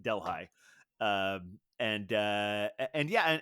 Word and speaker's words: Delhi: neighboring margaretville or delhigh it looks like Delhi but the the locals pronounce it delh High um and uh and